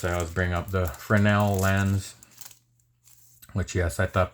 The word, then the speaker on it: Fresnel: And of course, I always bring up the Fresnel lens, which yes, I thought people were mispronouncing before they don't pronounce the Z, but uh apparently that is the correct pronunciation. It is not Fresno, it is Frenel.